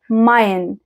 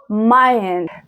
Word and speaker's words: mein: A E لما يجوا مع بعض بيتنطقوا I. زي كلمة ايه؟ زي كلمة mein. ein mein.